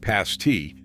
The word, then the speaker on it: pasty: The word pasty is pronounced with a short A, like past-tee, and it has roots that dig straight down into the region's copper and iron mines.